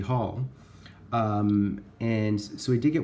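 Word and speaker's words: Holl: and we did get Justin whole I guess the pronunciation would be hall and so we did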